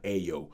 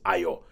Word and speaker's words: Ayo: And everybody pronounces her name wrong. They keep calling her Ayo. It's Ayo.